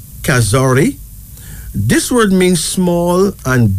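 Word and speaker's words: kazuri: kazori is spelled Ka z u r i pronounce kazori this word means small and beautiful in kiswahili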